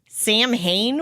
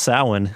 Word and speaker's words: Samhain: but you said happy Samhain? What? It's actually pronounced Samhain. That is the pagan term for the holiday.